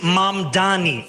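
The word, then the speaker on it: Mamdani: And furthermore, the name is Mam Dani. M A M D A N I. You should learn how to say it.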